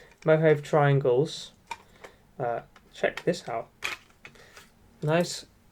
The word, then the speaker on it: Mojave: This is Mojave, I hope that's pronounced right, not Mojave. Mojave Triangles.